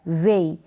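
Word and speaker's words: weigh: यहाँ EI को ए करके रीड किया जा रहा है, ए, ठीक है, ए, जैसे ये मात्रा गई हुई है ए और ये ई, और GH का यहाँ पर उच्चारण नहीं हो रहा है, वे। आप रीड करेंगे वे, GH का प्रोनाउंसिएशन नहीं है।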